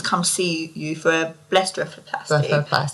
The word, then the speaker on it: blepharoplasty: What is a common reason your patients come see you for a blepharoplasty? Blepharoplasty. Did I say it right? You did.